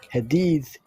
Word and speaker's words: hadith: Hadith, the way you pronounce hadith. Bukan hadis.